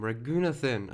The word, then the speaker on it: Raghunathan: Oh, that's how you pronounce his name, Raghunathan.